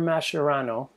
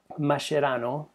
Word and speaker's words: Mascherano: him and there's a guy named uh Javier mashiro Mascherano in pronounced properly uh Javier Mascherano was has been lonel Messi's teammate for about